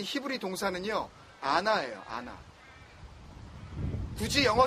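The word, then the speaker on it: ענה: 첫 번째, 먼저 145절에 부르짖었사오니로 번역된 이 히브리 동사는요, 아나예요. 아나. 굳이 영어 스펠링으로 하자면 ANA.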